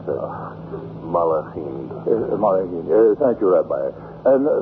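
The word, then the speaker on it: מלאכים: Gedushim, the holy ones, and how do you pronounce it? Malachim.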